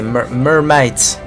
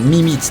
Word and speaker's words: Mimit: Salut Mimit. Bienvenue à toi. Comment vas-tu? My Might, peut-être que c'est Mermite. Terrible. Oui. Oui. Oui. Mais où vais-je? La première prononciation était bonne. Mimite, très bien.